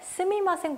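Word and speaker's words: すみません: 발음할 수 있죠 실생활에서 더 많이 쓰는 표는 스미마셍 보다는 쓰인 환생 이라는 발음이 고요 정중하게 쓰실 때는 그 때는 스미마셍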